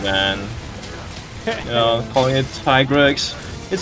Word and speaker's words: Tigrex: But yeah, you know, like we get told, you know, this is, you know, how we pronounce it, which is why I say Tigrex now.